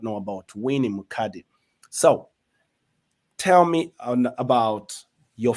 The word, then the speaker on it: Mukadi: I know you did talk about you have 4 kids and you are married to your king, my friend Eddie Mukadi, right? Did I pronounce that correctly?